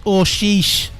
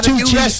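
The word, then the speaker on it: Aouchiche: Can I just say as well, I've got the pronunciation right. It's Oshish for Sunderland. That's who it. Not a two-cheese or hoochie.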